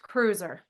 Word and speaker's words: Kreuzer: I say it right it's pronounced Cruiser Cruiser Melle Cruiser who works with people